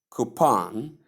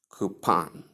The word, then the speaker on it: coupon: Then tip pronounce coupon with a long ooh sound at the first and short o sound at the ending. As you can see in the first pronunciation here. Coupon.